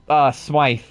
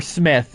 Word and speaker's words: Smythe: Jonah Jameson gets a call from our old pal Smythe. Or Smith, you said it's pronounced, right? Yes. So we called him Smythe, but his name's Smith.